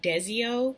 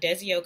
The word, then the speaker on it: Desio: I got them from a company called, I believe it's pronounced Desio Lenses, and they're on Instagram